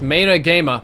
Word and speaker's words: Mani Gamey: Mani Gamey, pronounced Mana Gama. My bad.